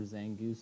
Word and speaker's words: Zangoose: can say thingies or zangoose is no it's Aggies zing gooses I mean I say it like Mongoose you can say either save it for two